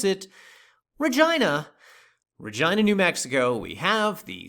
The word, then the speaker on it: Regina: town of, yes, this is actually how they pronounce it, Regina, New Mexico, we have the San Pedro Estate subdivision located right here and straddling both sides of State Road 96.